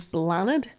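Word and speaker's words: Bláthnaid: I don't think it's Blathnaid because Blathnaid? Because b l a t h n a i d is Blaw-nid. So, I don't know if you pronounce the t h.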